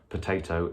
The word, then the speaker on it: potato: say the word potato it's hard to hear where the stress is but if you imagine that for some reason you are furious about potatoes as a potato you here that the stress is on the middle syllable there and if you said potato then you would hear that that was wrong this is good to